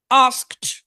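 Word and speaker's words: asked: গুলো আছে, এই ডি গুলো যদিও ইংরেজিতে লেখা ডি, কিন্তু উচ্চারিত হবে টি এর মতো, টি এর মতো। যেমন খেয়াল করেন, আস্ক, আস্কড, আস্কড, প্রশ্ন করা। আস্ক, আস্কড, এই যে দেখেন টি এর মতো উচ্চারণ।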